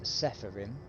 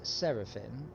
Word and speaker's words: Seraphim: get to sarapin um that so many people mispronounce sepharim but it's seraphim because it's s e r a p h